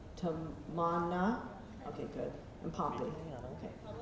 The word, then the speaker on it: Tamanna: They were teaching me exactly how to say it. Tamana.